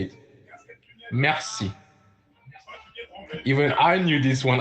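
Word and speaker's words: merci: going to go to Mery thank you is Mercy yeah but I want you to type it even though I said it it's a whole different thing to type it and to say it Mercy even I knew this one I know right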